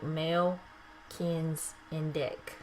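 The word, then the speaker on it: Melchizedek: further progress Mellon deck which is pronounced it tells me how to pronounce it here in the book male kins and dick Ellis Kinsey dick is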